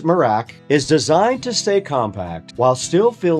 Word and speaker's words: Merach: The Merach, again, pronounced Merach, is designed to stay compact while still feeling more stable than your average walking pad.